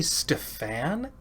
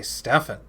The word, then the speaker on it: Stefan: part 1 is available for he say stew fan I thought it was Stephane or I guess I always say Stefan Stefan I don't like that I guess that's that's the Canadian way of saying it right they always think they